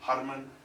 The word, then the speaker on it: Herman: In the global drinks industry, Herman van Broekhuizen, he pronounces it Harman van Broekhuizen.